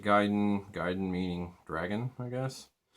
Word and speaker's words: Gaiden: game series ninja gaiden some of us called it gaydon until we learned the proper japanese pronunciation um ninja gaiden gaiden meaning dragon i